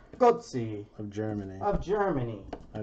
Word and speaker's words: Götze: Mario Götze.